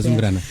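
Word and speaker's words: Zoungrana: Donc je m'appelle Zungurana. Je suis le secrétaire général du groupe Burkindi, les experts burkinabés travaillant dans les ONG au Mali. Enchanté, monsieur Zungrena. Je l'ai bien prononcé. Absolument, Zungrana.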